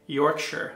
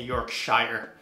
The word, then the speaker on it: Yorkshire: I was corrected in my pronunciation. Bradford, Yorkshire. I think I say Yorkshire.